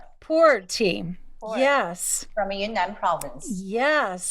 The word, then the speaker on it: Pu'er: This is Perua tea. Did I say it right? Pu'er tea.